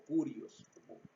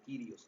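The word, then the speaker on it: κύριος: español como señor es la palabra kyrios o curioso depende de cómo se pronuncie pero vamos a pronunciarnos nosotros como kyrios que es a lo mejor más porque es más fácil y dice él kyrios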